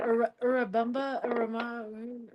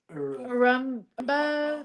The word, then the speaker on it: Urubamba: I mispronounce it. What is it? Urubamba? Yeah. Urumba?